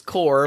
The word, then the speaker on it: Korb: Alex Korb. Rhymes with orb, which is also a word for brain or something.